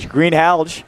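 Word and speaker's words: Greenhalgh: what it was yep you pronounced that g you hit that g green hge yep big time glad I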